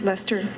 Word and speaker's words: Leicester: trying to get a ride at Leicester it's pronounced Lester isn't it Lester Leicester University also in the United Kingdom so